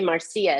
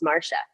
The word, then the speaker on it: Marcia: They never say Marcia. It's always Marca. So, when you're when you're going to Syria and you say call Marcia, it says calling Marsha.